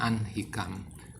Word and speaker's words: ahnikam: Nah, di sini kedengaran ya, anhikam itu tertulisnya adalah ahnikam, tapi di sini diucapkan anhikam.